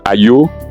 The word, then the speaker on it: Ayo: Donc, Ayo, voilà comment ça se dit en démotique.